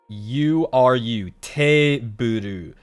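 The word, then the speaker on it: テーブル: But in Japanese, to get the double E, if you want to extend the T-E, you add this. Te, T-E, and then you take the vowel sound at the end of this and extend it once. Te-buru.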